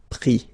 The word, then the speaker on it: pris: Mettre, mi, and then E-N-D-R-E, I-S, but then same thing here, the sound I. Prendre, pris, okay?